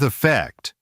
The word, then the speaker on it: effect: In emit, the E matters. In event, the E is still there. Same with effect. Even though the first syllable is weak, flattening everything into event or effect works against you.